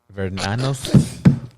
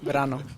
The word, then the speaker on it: Verano: It was how do you say Vernanos? We're gonna get back at this. Verano.